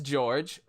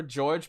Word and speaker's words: George: Like, I'm going with the Spanish way, and you're just going with the, it's George! It's George!